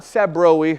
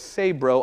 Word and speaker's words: Sabroe: Which not Sabroe or Sabroe, it's Sabroe. I don't know why that's how we pronounce it, but that's just what we do.